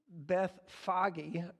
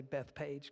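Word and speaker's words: Bethphage: just this week but beth foggy is how they pronounce this and i guess in hebrew i always say beth page because i miss i just skip the h that's in there the extra h that's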